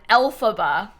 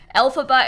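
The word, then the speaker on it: Elphaba: Rome of magic she is a play on Alaba from Wicked who is like the Wicked Witch of the West maybe you've heard of that that name is spelled e l p h a b a okay alphaba in The Sims is not the original alphaba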